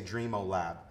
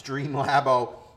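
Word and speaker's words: Dreamlabo: wrong dream lab oh I always want to say dream Oh lab but it's dream lab oh and it's this matte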